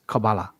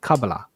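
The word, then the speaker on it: kabbalah: it's it's it's the the pronunciation of it is cabala and then um in English pronunciation of it we call it kabala and then other pronunciations so the C the K are just different ways of transliterating it oh see on Wikipedia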